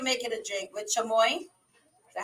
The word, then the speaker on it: chamoy: But anyways, so you rim your shot glass, or I guess you can make it a drink with chamoy.